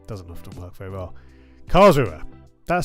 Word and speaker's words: Karlsruhe: Karlsruhe. Thank you, Brock, so often, along with some others in chat, often helping with my pronunciations. I try my best, but yeah, doesn't often work very well. Karlsruhe.